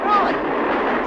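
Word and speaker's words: Froy: Roy. Sorry, I can't hear. It rhymes with joy.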